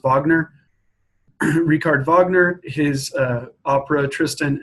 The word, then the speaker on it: Wagner: It looks like Wagner, but it's pronounced Wagner.